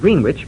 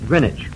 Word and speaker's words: Greenwich: It's spelled as if it were pronounced green witch, but it's called Greenwich.